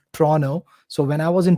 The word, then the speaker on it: Toronto: Toronto people pronounce it as Toronto.